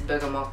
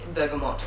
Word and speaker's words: bergamot: neroli neroli Bergamo Oh should I say what is the correct place I think it's bergamot because for a good in it it's from Italy so in Italian it's bergamot dog let's see so I would say it's bergamot it's just that since I keep since I was a kid I was saying it wrong through the French safer